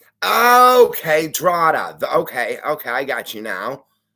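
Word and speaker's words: Drogheda: Remember, it's pronounced Drada. Okay, Drada.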